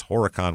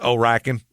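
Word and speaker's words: Horicon: with two counts it's Horan Wisconsin by the way herrien Wisconsin h o r i c o n oh you don't pronounce the h it's just oen it's Oaken it probably is it's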